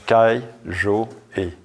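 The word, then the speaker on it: 戒定慧: dans le zen, c'est-à-dire en 3 divisions qu'on prononce kai, jo, e.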